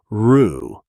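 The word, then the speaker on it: roux: Rue is a French loan word, a butter and flour base for cinjun and creole cooking. And it's pronounced with the tense back vowel uh uu as in boot.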